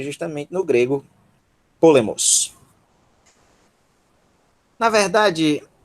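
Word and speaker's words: πόλεμος: Nós temos polemos. Polemos. Polemos. Piômicron, po, sílaba tônica. Le, lambda y. Miômicron, sigma. Mos. Polemos.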